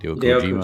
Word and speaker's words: Hideo Kojima: Hideo Hideo Kojima.